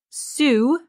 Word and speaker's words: Seww: But he barely finishes this sentence when a youngster, Sue, it's spelled Seww, so like so, runs up, needing the Clutch Father's immediate counsel.